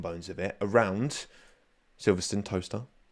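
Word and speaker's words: Towcester: Toaster. Toaster. Not Toester. I used to think it was pr pronounced Tochester.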